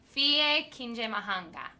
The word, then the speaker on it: Fille Kinyamahanga: Fille Kinyamahanga.